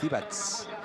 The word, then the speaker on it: Divac: Divac, per exemple, no és Divac, és Divats.